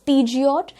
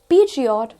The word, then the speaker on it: Peugeot: हम इसे सोचते हैं it is Peugeot. Peugeot गलत प्रोनाउंसिएशन हो जाता है और सही प्रोनाउंसिएशन है Peugeot इस पर्टिकुलर कार का सही प्रोनाउंसिएशन है, it is not Peugeot but it is Peugeot